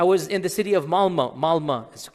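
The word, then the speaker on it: Malmö: And in Stockholm, if you have 10% Muslim, I was in the city of Malma. Malma is it's it's spelled with an O but it's pronounced Malma.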